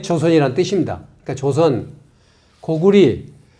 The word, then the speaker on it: 고구려: 그러니까 조선, 고구리, 그 다음에 고구려 때는 나라 이름을 고구리라고 불렀습니다. 지금 잘못 읽고 있는 거예요.